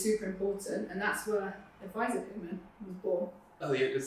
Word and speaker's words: ADVSR: have a full form it is advisor yeah it's not adsr you know what I'm saying like if it's like ddre we know there's a full form for that so ddre is we can say it like that it's not Dr what do you mean but with advisor there isn't a full form so it's it's it's advisor I was born out